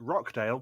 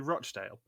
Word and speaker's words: Rochdale: mispronounces it oh God she calls it Rockdale but it's actually Rochdale oh really yes but